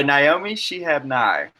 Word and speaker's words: Naomi Shihab Nye: By Naomi Shihab Nye.